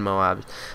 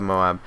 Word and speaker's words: MOAB: up the Moab and Moab is how you pronounce it that's the military term I know Al press store if you guys haven't seen Al pressor's videos where he says Mo not Moab those are pretty funny but